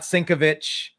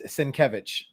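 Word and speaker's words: Sienkiewicz: very nicely oh no sin or cabbage it's exactly right yeah not syncovich not it's senkevich now I'm still saying alert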